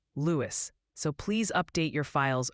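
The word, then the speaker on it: Lewes: Speaking of which, the good people of Lewis have formed a digital quorum to gently inform you it's pronounced Lewis, so please update your files accordingly. Lewis, I knew that.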